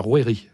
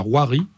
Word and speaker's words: rouerie: un trè sur le on dit la rouerie laie voilà c'est ça ou il y a pas plusieurs prononciations non non non ça c'est la prononciation autrefis on disait la roirie et aujourd'hui la rouerie c'est une sorte de